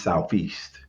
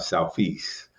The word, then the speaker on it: Southeast: DC urban vernacular, is Southeast. And I'm putting an ST on it because of my education training, but it's more like an F, Southeast.